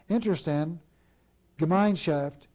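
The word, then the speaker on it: Interessen-Gemeinschaft: IG stands for, and I'll pronounce this the best I can, Interstand Gemeinschaft, which I've been told means community of interest, or more simply, cartel.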